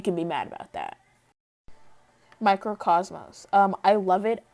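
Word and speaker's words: Mikrokosmos: um i love it i used to think he would pronounce it as micro mouse until on jimmy fallon they said microcosm and i was like wait a minute that's how you say that and i felt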